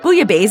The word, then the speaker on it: bouillabaisse: The 2 L's combine into a Y sound, as you'll often find in French words when they're preceded by an I, so if you pronounce